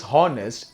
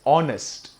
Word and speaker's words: honest: is not pronounced as hornets h is silent here it is just now just honest right an honest man